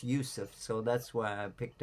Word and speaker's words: Yusuf: that was our brother he took the name Yusef cuz it's the how you pronounce it in Arabic so we got another